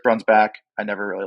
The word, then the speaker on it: Breunsbach: I know how our last name should be pronounced, even though it's been said for generations. So I'm pretty sure it's Breunsbach.